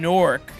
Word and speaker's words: Newark: Still working in Newark, meaning Newark. That's how you say it when you're from the era.